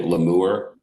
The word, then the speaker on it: lemur: to pronounce it uh some people think it's a french name so i've heard people say lemur inc people who don't know